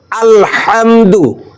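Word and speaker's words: الحمد: উচ্চারণ ঠিক হয়ে যাবে হা হা গলার মধ্য থেকে উচ্চারণ হবে অনেকেই হা উচ্চারণ করতে পারে না তারা বলে হা এই হা উচ্চারণে যদি ভুল হয়ে যায় তাহলে সূরা ফাতিহার প্রথম আয়াতটি ভুল হয়ে যাবে আলহামদু আলহামদু সকলে একসঙ্গে বলতো হা যদি হার উচ্চারণ আমরা ঠিক করে পড়তে পারি তাহলে সূরা ফাতিহার উচ্চারণও ঠিক হয়ে যাবে আলহামদু আলহামদু আলহামদু আলহামদু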